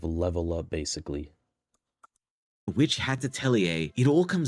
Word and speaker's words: Atelier: A girl all alone experimenting with So magic that's how you pronounce it, Atelier.